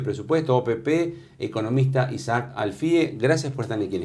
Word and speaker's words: Alfie: Oficina de Planeamiento y Presupuesto, OPP, economista Isaac Alfie. Gracias por estar en Quién es Quién. Muchas gracias, Gustavo, por la invitación. Aclaro lo de Alfie porque se dice Alfie, Sí, su sí, apellido, sí.